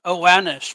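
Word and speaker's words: Oannes: The ritual for calling down Owns is it or Well, I've always heard it as Owanis, but you're on safe ground, however you pronounce it, because nobody speaks ancient Sumerian.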